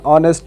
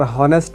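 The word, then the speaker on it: honest: एन ऑनेस्ट मैन, यहाँ पर हॉनेस्ट नहीं पढ़ते, ऑनेस्ट पढ़ते हैं, यहाँ पर एच साइलेंट है।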